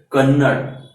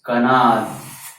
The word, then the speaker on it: Kanad: The name of Maharshi is not Kannad, it's Kanad. That's why I have written it in vernacular also. It's like this, Maharshi Kanad. He is not Kannad. So this was about the pronunciation.